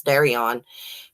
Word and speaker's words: Derion: When Brittany came out with these allegations that Derion, I finally figured out how to pronounce his name. It's Derion.